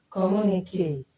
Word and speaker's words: communicate: So we stress it as mu, komu.